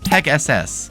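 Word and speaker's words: PegSS: Instead, they kept Pegs and added Peg SS, which is fun to pronounce as it's supposed to be like Pegasus.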